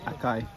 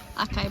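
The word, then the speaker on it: açaí: We've been saying it wrong all along. We've been calling it, as you probably heard acai, Acai bowl. but it's acai.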